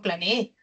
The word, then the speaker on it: planeé: Y el acento está en la última sílaba, ¿no? Acá no dice usted planee. Una cosa sería usted planee y otra cosa yo planeé.